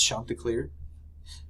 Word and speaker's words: Chanticleer: His name is Chanticleer. At least that's how I choose to pronounce it.